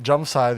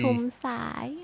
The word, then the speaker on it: Jumsai: Sumit Jumsai, the architect of the Chomsai. Chomsai. In English, it's spelled with a J, nah?